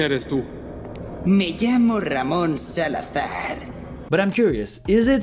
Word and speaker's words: Salazar: Me llamo Ramón Salazar. Again, he should have pronounced his name Salazar with a Spanish zeta.